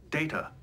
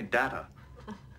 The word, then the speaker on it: Data: at this data what my name it is pronounced data oh you called me data what's the difference one is my name the other is not hello everyone and